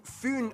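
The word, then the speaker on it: Fyn: it is connected to foon island not fin island by the great belt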